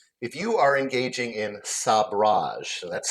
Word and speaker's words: sabrage: If you are engaging in sabrage, that's spelled s a b r a ge.